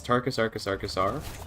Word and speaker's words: Tarkus Arkus Arkasar: You pronounce it as Tarkus Arkus Arkasar. And what it means is it's my real life first name is Tarek. And all I did was like Latinize it to Tarkus and then just loop the syllable over and over again.